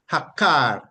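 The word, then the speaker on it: עקר: the um root word is transliterated from Hebrew to English as a q a r and it is pronounced hakar hakar hakar meaning to pluck up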